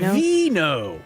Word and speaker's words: Vino: Yeah, they pronounce it veno.